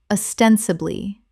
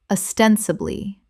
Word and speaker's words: ostensibly: benevolent benevolent Word 270 ostensibly common mispronunciation ostensibly correct pronunciation ostensibly Four syllables with the stress on the second, meaning apparently or seemingly.